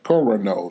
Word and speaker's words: Coronado: District 54, Coronado. Coronado. That's how they pronounce it there.